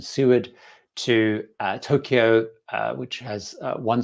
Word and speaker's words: Seward: And I think that threw up, wow, there's a Seaward, because I got the pronunciation wrong. When I was on the trip, I learned the right pronunciation. Seward to Tokyo, which has